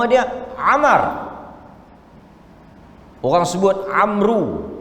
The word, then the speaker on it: Amr: Amal the walls buat Amru Sebenarnya bukan Amru Hai Na mode bukan ambruk ambruk hai Hai Amr Ibnul Ash Amr Ibnu ALS Hai